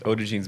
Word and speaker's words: Odigean: It's phonetic, but people have trouble with it. That was right.